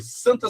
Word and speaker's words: santa: Outra palavra, no nome Santa Cecília, por exemplo, a gente tem a palavra santa, ó. S an. Esse an que a gente tem aí, ele é um som só.